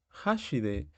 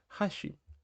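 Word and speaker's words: 箸: decimos hashi es decir con la entonación más arriba en la parte del shi estamos diciendo puente y no palillos ojo ahí que tienen el mismo gir gana Pero cambia esa parte de la pronunciación dónde ponemos ese acento entonces con los palillos es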